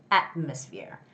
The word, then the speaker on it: atmosphere: atmosphere atmosphere atmosphere atmosphere the stress goes on the first syllable so it's atmosphere atmosphere okay yes okay so